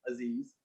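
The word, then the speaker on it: Azeez: Aziz, not spelled the same, A-Z-E-E-Z, Aziz.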